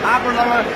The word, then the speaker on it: Aberlour: Okay, Aberlour, it rhymes with happy hour.